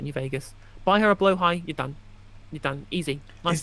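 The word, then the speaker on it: Blåhaj: But the J is silent because it's Swedish, and the A has got the O over the top, which makes it pronounced like an O sound.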